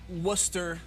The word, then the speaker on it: Worcester: And then we also will have Wadsworth at Worcester. Saying it correctly. Worcester? I know they like to be called Worcester. Woo Town, Phonetically correct. but it's Worcester.